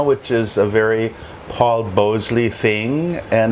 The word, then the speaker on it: Bhonsle: However you'd like to pronounce the N, it's Bhonsle. Thank you, Paul.